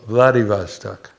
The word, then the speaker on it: Vladivostok: How do you pronounce that? Vladivostok.